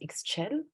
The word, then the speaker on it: Ixchel: My name is so difficult to pronounce because it's Ixchel, right? And in the Spanish language, it would be pronounced Ixchel, right?